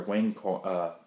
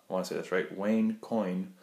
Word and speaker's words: Wayne Coyne: The lead singer, Wayne Coyne, Wayne Coyne, I believe that's how you say it, talked about like